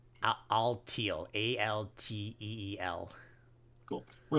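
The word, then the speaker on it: Alteel: its nickname so which is uh it's it's pronounced all teal a-l-t-e-e-l cool we're not using Focus energy by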